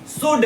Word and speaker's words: should: बनाएंगे हम क्या आई शुड एस एच ओ यू एल और इस एल को साइलेंट करते हैं।